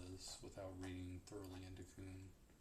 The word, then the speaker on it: Kuhn: We don't really know what Kuhn's model is without reading thoroughly into Kuhn. How do you pronounce Kuhn? Kuhn. Yeah. O is in goose.